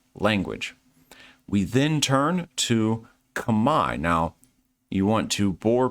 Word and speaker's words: Khmer: correct them and say, did you know that Khmer is actually pronounced Kamai? And this is Kamai language.